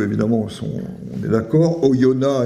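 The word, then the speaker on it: Oyonnax: sont on est d'accord oyona et pas oyonax alors celui-là c'est le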